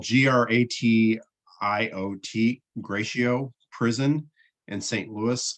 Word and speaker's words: Gratiot: and he was sent to uh uh it's it's spelled g-r-a-t-i-o-t gratiot prison in st louis and if you're